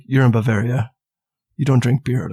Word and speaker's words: Bavaria: Oktoberfest it feels like Bavaria's where that came from does anyone pretend to know this I know I know that Bavaria is the place that rhymes with malaria but has nothing to